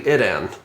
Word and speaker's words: Idan: So it's actually Idan. Idan, okay. So none of the ways I said.